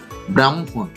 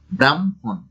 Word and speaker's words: ব্রাহ্মণ: এর সঠিক উচ্চারণ হচ্ছে নদী। এরপরে দেখি কি আছে, ব্রাহ্মণ।